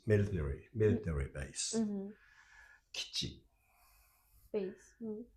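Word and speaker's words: 基地: It's this I is not pronounced. Mm. Okay, so it's kichi. Kichi, kichi, kichi. Mm-hmm. If you pronounce kichi, that sounds Hmm. a bit strange to us. Okay, not It natural. should be pronounced kichi, kichi.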